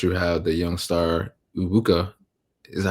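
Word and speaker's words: Egbuka: Of course, you have the young star Ubuka. Is that how you say it? Yeah, Ibuka, Emeka Ibuka.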